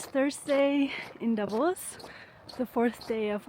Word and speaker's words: Davos: And just to get something clear, I keep hearing Davos Davos, but it's actually Davos. So if you want to make a good impression, use the accent on the last syllable. So Davos.